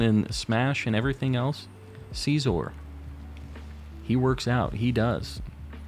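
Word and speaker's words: Scizor: Caesar like that it's it is caesor that's how you say it it's not scissor I know that that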